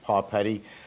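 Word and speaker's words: Papetti: it's pronounced paw putty like a dog's paw and then petty paw petty but it's spelled it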